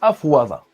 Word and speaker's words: أفاض: Afada, à la base, on le prononce afwada.